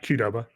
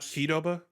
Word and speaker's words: Qdoba: its name cudoba is do you pronounce it qdoba yeah qdoba not pidoba cudaba qdoba the letter q doba all right if you